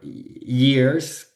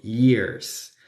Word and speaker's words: years: Un error común es pronunciar years, que es años, como si tuviera una Y, que sería years. Y no, la Y se pronuncia como una I, por eso decimos years. Por eso para decir sí decimos yes, ¿cierto?